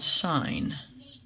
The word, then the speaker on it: sine: in the first one is called sine okay that's how it's pronounced no we don't write it out if you look at your calculator you don't see SI any you see SI n so we write it like